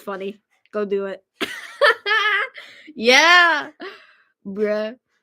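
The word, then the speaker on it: Breault: there you go that's spelling it correctly it's pronounced bro yeah but in English it's pronounced brout yeah actually you know what I'm going to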